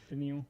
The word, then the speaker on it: Danielle: me for saying that denil because his name is denil Hunter like it's spelled like Danielle that's why I say